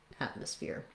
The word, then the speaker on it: atmosphere: ear so rewriting that i would say at mus fear atmosphere again with our stopped t then when we change